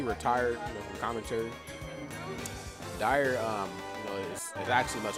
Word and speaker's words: Dyr: It's spelled a little different, but it sounds the same.